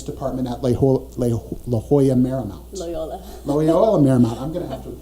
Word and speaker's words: Loyola Marymount: Am I pronouncing that right? Correct. Loyola Marymount.